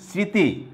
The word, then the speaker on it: স্মৃতি: স্মৃতি, দন্তা স্বরের উপরে চন্দ্রবিন্দু ব্যবহৃত হয়েছে।